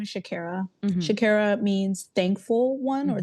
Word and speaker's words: Shakira: How it was meant to be pronounced is Shakira. Growing up in public schools, many, public schools in the United States, it went from Shakira, kind of like Jamaican-ish, to Shakira, which is all right, cool at this point.